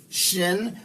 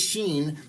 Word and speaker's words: shin: god son of god shin by the way i was pronouncing this sheen but i'm finding out i was pronouncing well i'm not sure i've heard it both ways but uh since last time i filmed uh shin i think is the preferred pronunciation and that's how we're going to pronounce it so the son of